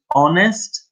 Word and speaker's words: honest: and boring because says honest and dishonest very good be careful be spelling honest has a silent H okay stop let me